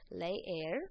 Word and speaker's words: leer: read a book so leer is our verb here it means to read leer you're going to pronounce both of those e and then un Li